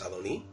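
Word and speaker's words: אֲדֹנִי: Sin embargo, también es cierto que aunque leemos Adoní, la palabra Adoní y la palabra Adonai se escriben exactamente igual. El hecho de que leamos Adoní es debido a los masoretas que aproximadamente en el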